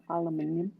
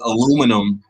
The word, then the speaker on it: aluminium: one of all time Tony Blair is saying aluminium that's my favorite one Al that's how they pronounce it right that's how you guys pronounce it over there across the pond right well if you look at the spelling that's how it would sound yeah Alum aluminium yeah you say aluminum out here in the states so that's